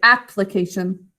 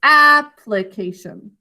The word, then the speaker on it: application: thinking cap anymore because we now are going to pronounce this the correct way application and that's because this is now an unstressed syllable instead of applied it's application so this is now the one that's unstressed application how do we mark